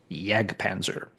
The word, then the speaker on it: Jag Panzer: I tend to say Yag Panzer because as far as I know, the name is German and in German, the letter J is pronounced with a Y sound.